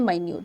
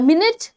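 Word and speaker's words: minute: मुश्किल था ठीक है मा मिनट एंड माइन्यूट फर्क डेफिनेटली है स्पेलिंग्स बिल्कुल सेम है प्रोनंसिएशन बिल्कुल डिफरेंट है ठीक है एंड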